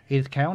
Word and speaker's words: Edith Cowan: in strength and conditioning from Sydney University and Edith Cowan.